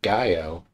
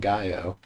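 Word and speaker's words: ngaio: tree with white wood and gaio i guess is the best i can think of just silent and gaio wow gain what is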